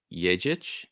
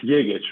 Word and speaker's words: Jegic: Daniel Jegic. Am I pronouncing that correctly? Almost. It's Yegic, but it's fine.